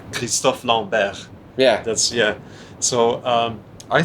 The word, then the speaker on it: Christophe Lambert: Christopher Lambert, right? Yeah, the guy? yeah. Yeah. It's we pronounce his name Christophe Lambert.